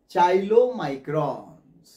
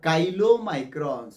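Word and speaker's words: chylomicrons: को, उसको कहते हैं चाइलोमाइक्रॉन्स और काइलोमाइक्रॉन्स। प्रोनाउंसिएशन कुछ लोग चाइलोमाइक्रॉन्स करते हैं, कुछ लोग काइलोमाइक्रॉन्स करते हैं।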